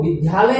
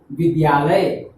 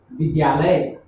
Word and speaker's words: विद्यालय: तो जो विद्यालय में आता है वो विद्यालय हम बोलते हैं, वो गलत बोलते हैं। शुद्ध उच्चारण होता है विद्यालय, विद्यालय। तो हम इसको अब ऐसे भी लिख सकते हैं और ये से भी लिख सकते हैं, किंतु उच्चारण हमें करना चाहिए विद्यालय।